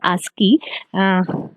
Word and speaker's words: ASCII: are uh ascii ascii it is pronounced as ascii a-s-k-e-e and uh observation for